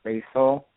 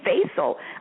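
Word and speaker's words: Faisal: hi my name is basil what is it basil B it's like Stacy and pencil together what is it it's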